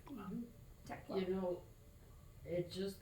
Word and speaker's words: Thekla: And you pronounce it Thekla? Is that right? Tekla. Tekla. The Oh, okay. H just becomes T. Tekla.